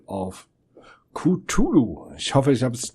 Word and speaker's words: Cthulhu: Mir wurde ja ein Hinweis gegeben, dass ich das am Anfang wie ein Q sprechen soll. Und dass es denn so wird.